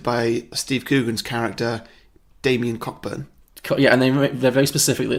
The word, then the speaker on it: Cockburn: made yes directed by Steve Coogan's character damien cockburn yeah they're very specifically it's pronounced Cockburn October yeah so yeah he's so